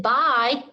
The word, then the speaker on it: by: But the tricky part of the word, test it, it's that Y. That Y is pronounced that long I sound, I. But remember, when you're reading by, you have to remember to pronounce the letter Y as I. And when writing by, you need to make sure you write the Y in place of the I sound.